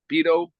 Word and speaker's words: Beato: Uh, Beto. Rick Yeah, Beato. Rick yeah. Rick Beto. Beato.